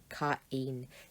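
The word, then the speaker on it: Κάϊν: That's telling you you've got two syllables here, Cain.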